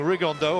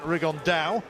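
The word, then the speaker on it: Rigondeaux: he's talked about fighting rig on though or as he's correctly pronounced with the uh spanish accent rig on dao and two absolute geniuses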